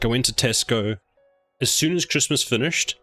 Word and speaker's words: Tesco: Or Tesco's. Apparently there's a debate about is it Tesco, because that's how it's meant to be pronounced, or Tesco's.